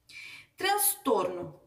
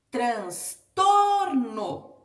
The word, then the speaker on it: transtorno: Transtorno. Transtorno. Transtorno. Última, penúltima. Ela é uma paroxítona.